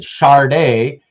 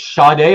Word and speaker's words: Sade: to do with Sade and why some people pronounce it Charday, and how Marcus says that he thought when he was a kid it was Sade or Sadie. I always said Sade. Yeah. Hey, they said it's Sade on TV, so it was Sade.